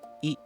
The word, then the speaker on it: い: interesting thing stands out: The vowels ''い / i / EE '' are actually very close to each other. That's why, for both English and Chinese speakers, producing a natural-sounding Japanese ''い'' is relatively easy. The key is: don't turn it into a diphthong, and keep your tone and mouth shape consistent.